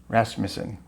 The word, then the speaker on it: Rasmussen: today Bob good and my name is pronounced rasmon rasmason very good correct all